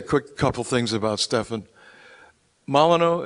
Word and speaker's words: Molyneux: couple things about Stefan maleno is how you pronounced your last name give me it your way Mal malanu so good Dana um I